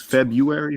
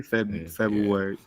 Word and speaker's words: February: It's February. February. How you say it though? You say February or February? February. Yeah. With a U?